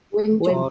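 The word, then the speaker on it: 왼쪽: Kalau yang sebelah kiri, Wencok. Oroncer. Wincek. wencok. Wincek. Wencok. Wencok. Wencok. Karena itu hurufnya O dan I ya. Jadi dibacanya we. Wencok.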